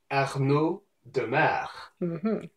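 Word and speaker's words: Arnaud Démare: Arnaud Demare.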